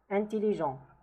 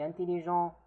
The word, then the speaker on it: intelligent: Intelligent. Intelligente, in case if it's feminine, the T is pronounced.